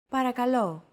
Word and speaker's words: Παρακαλώ: The P, R, K, and L sounds are practically identical to English. Don't forget that words get accentuated in Greek, so make sure to stress that final syllable with the accent mark.